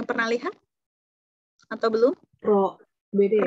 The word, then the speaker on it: rho: Rho. Beda ya? Rho, betul, septic ya. Bukan P ya.